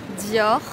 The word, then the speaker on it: Dior: mais c'est trop beau bien sûr l'irremplaçable Dior prononciation des marques de luxe Louis buitton Dior alors si vous avez regardé la série Lupin